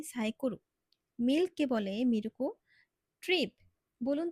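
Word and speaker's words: サイクル: যেমন তারা সাইকেলকে বলে সাইকোরু, মিল্ককে বলে মিরুকো, ট্রিপ।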